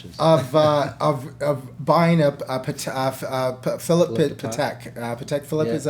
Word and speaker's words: Patek Philippe: Patek Philippe, is that how you say it?